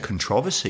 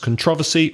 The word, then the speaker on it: controversy: I really don't know I've always said controversy it sounds yes probably just in my house we say like this yeah so there you have it listeners not all native speakers agree on the same word stress with some words so it could be pronounced controversy or controversy next word depends well-spotted